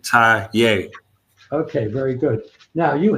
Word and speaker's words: Taye: you pronounce it okay it's ta like you tying your shoe ta okay very good now